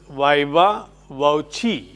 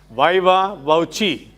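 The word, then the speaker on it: viva voce: across this situation somewhere it should be pronounced viva woi in American English slight difference is viva wi they say but British Oxford is viva wii s there is no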